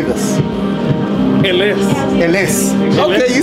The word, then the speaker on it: Ellesse: Ellesse.